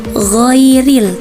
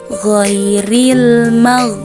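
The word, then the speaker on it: غَيْرِ: seperti ini contohnya ghairil padahal huruf gho itu bukan huruf qolqolah Jadi tidak boleh dipantulkan cara membaca yang benar adalah ghairil jadi dia keluar dari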